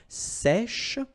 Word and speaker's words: sèche: Un sèche. So this one is a bit tricky. So remember, we've got this E accent grave here, so it's really open. Sèche, okay, sèche, and then cheveux.